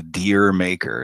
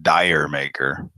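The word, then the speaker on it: D'yer Mak'er: Zeppelin song it's it's it's actually dear maker it's not Dyer maker but that's what Americans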